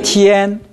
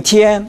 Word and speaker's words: 天: 그런데 티엔 할 때 티엔 입이 좀 벌어졌으면 좋겠어요. 보통 우리는 티엔 이렇게 발음합니다. 티엔 제 입을 보십시오. 티엔 이 정도에서는 정확한 발음이 아닙니다.